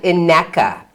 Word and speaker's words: Ineka: So it is in fact Ineka, correct? Rhymes with Rebecca is what Kimberly has told me.